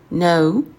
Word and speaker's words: know: Savoir, connaître, know, know. Donc là, très bien, on ne prononce pas le k.